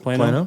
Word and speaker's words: Plano: Is that how you pronounce it? Plano, yeah.